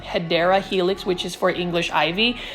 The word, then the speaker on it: Hedera helix: certain plants like the hedra Helix and for those that are new to my channel I actually Mis pronounce the word um hedera Helix which is for English